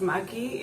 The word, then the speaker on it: Maggi: dad's french but um i think you pronounce it as maggie in england and to me that's